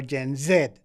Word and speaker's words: Gen Z: I guess I guess like you know obviously in Australia we pronounce it zed, but like in you know in America and every other place they call it Jenz.